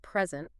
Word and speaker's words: present: the meaning oh wow think about the word present if you stress the first syllable it's a noun a gift right but if you stress the second syllable it becomes a verb to give something wa that's wild I